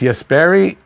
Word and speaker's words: Jesperi: I'm hoping my favorite new Hab, Jesperi, I've been saying it wrong, and my Finnish fans have been telling me that it's Jesperi, and thanks for that.